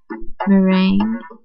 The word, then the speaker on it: Merengue: ends we have olaf meringue or yeah like the pie like on a pie yes freya barbara sounds